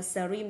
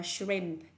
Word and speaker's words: shrimp: Từ này không đọc là shrimp, đọc là shrimp.